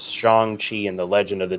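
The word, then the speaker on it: Shang-Chi: no no like in the movie they they pronounce it shang chi like they said it in the in the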